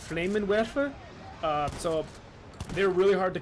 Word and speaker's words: Flammenwerfer: It's in German. It's pronounced Flammenwerfer.